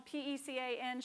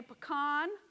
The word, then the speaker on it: pecan: There was a study done by the National PECAN Shellers Association of America. 70% of Americans say pecan, but those of us who say pecan, which is what I say, that is a Southern thing.